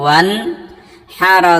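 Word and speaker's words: وانحر: এই যে আরেকটা রয়েছে এটা কিন্তু খালি, অতএব এটাকে কথা বলা যাবে না বা উচ্চারণ করা যাবে না, এটা শুধুমাত্র সৌন্দর্যের জন্য আসছে। ওয়াও নুন জবর ওয়ান, হারা জবর হার, ওয়ান হার।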